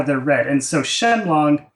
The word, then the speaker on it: Shenlong: they're read and so shenlong on its own in Japanese this would normally be read as Shin Ryu right and a lot of people ask that why isn't it written or spoken that way but it's because of that furana similar to how we